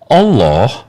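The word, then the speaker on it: الله: Allah nama Tuhan dalam bahasa Arab. Jadi kata Allah ini diserap dari dari mana? Dari mana? Bahasa Arab. Ah. Alif lam lam ha itu pronounciation-nya Allah bukan Allah.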